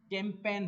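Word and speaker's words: campaign: ये कैंपेन है, कैंपेन। Okay, कैंपेन, इसमें जी साइलेंट है, आपको दिख रहा होगा।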